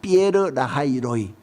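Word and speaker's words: באר לחי ראי: 그래서 14절에서 하갈은요, 그 옆에 있는 셈의 이름을 짓는데 뭐라고 짓느냐면은 부엘라헤로이라고 그렇게 짓습니다. 원어 히브리 원어로는 발음을 이렇게 합니다. 피에르라하이로이.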